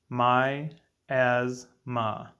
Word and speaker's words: miasma: is miasma miasma is a three-syllable word pronounced my as ma three different vowel sounds one word miasma is